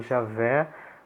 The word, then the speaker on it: Javé: não pronuncia isso eh em português a pronúncia pode ser Jeová ou Javé né os protestantes tendem a preferir Jeová os católicos tendem a preferir Javé Mas de fato tanto faz